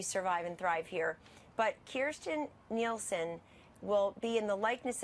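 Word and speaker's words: Kirstjen Nielsen: served with general Kelly and I served with Kirsten Nielsen that is her name everybody ought to learn how to pronounce it because she's about to be our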